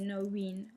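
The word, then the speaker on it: Norene: Ça, comme c'est un prénom irlandais, en fait, le I se prononce... Le E se prononce I. Donc, du coup, ça fait Noreen, en fait.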